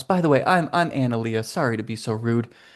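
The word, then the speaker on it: Analeia: Victor and then give me a second and I can tell you how to pronounce the other one. Okay. A N A L E I A. Analia. Analyia.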